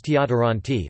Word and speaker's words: deodorantti: As for loanwords, D was often assimilated to T. Even well into the 20th century, it was not entirely exceptional to hear loanwords like deodoranti, a deodorant, pronounced as tiodoranti, while native Finnish words